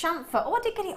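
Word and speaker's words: chamfer: Pronounced shamfer.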